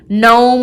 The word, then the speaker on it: gnome: So rap with the silent W, nat with the silent K, gnome with the silent G, ghost with the silent H, things like that.